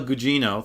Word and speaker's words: Gugino: Jean Gugino as I believe it's how you pronounce it carla Gugino thank you and bruce greenwood I are both